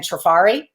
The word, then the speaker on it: Trifari: And that would be, again, Trifari, Trifari, so Trifari.